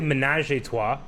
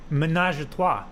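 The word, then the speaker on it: ménage à trois: you say it huh you don't say menage tois menage a trois yeah menage a trois yes like menagerie not menage a menagerie of three yes uh best star wars movie since 2015.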